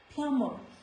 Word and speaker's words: plumber: This word you might have often heard people saying plumber. It is not plumber, it is plumber.